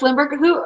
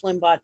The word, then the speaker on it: Limbaugh: Rush Limburg, Lumberg? Is that how you pronounce his name, Limburg? But I thought it was Rush Limbaugh too, but I wasn't sure.